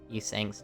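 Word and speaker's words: 이상: original joke is that in Korean, Yisang's name is pronounced the same as ideal. So like, you know, you say ideal in Korean, it sounds like you're saying Yisang, but obviously, if you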